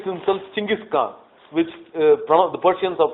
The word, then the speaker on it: Genghis Khan: Then Temujin calls himself Genghis Khan, calls what's called a Kuriltai.